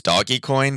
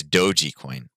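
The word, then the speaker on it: Dogecoin: it it and it's it's actually doji coin i found i was saying i originally thought it was doggy coin but it's doji coin um that's how you say it but you know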